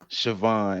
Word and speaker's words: Siobhan: up and so um it's of irish origin it's pronounced siobhan and i believe if